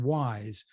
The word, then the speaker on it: Wyze: marketing officer at a company called wise spelled with a Y and a z thank you for joining